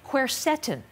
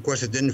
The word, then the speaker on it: quercetin: I want to make sure I pronounce this correctly. Quercetin.